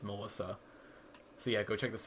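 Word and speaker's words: M3LL155X: m three ll 1 55 x but it's pronounced melissa see i go check this out it's amazing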